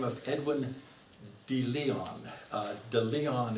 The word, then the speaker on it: De Leon: of edwin de leon de leon is the way it's pronounced in south carolina it's a spanish names